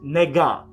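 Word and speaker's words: 那个: is nega n-e-g-a well no n-a-g-e but it's pronounced negan and and and these idiots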